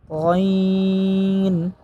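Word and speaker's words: غ: যেমন ওয়া, গইন, গইনের মাখরাজ ইতিপূর্বে বলা হয়েছে 3 নম্বর মাখরাজ থেকে গইন উচ্চারণ হয়।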